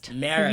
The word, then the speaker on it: Marist: you also went to, I always butcher the pronunciation of the college, Marist? Marist.